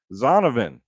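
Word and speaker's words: Zonovan: him nobody you got let me try and pronounce his first name right zonavin not Jonathan but Donovan Knight for the Jets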